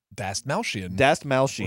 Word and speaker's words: Dastmalchian: Dastmalchian.